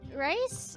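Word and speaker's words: Rhys: The name is spelled R-H-Y-S. Noted. It's not the food.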